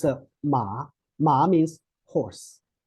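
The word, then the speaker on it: 吗: And then when we pronounce this one, the whole character ma, is actually neutral tone.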